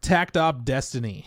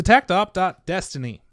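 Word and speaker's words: Takt Op. Destiny: name huh yeah so tactop.destiny i don't you don't pronounce the dot but you just said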